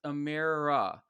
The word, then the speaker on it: Amara: is Amara Jones okay her her name is pronounced Amira uh she's from Westminster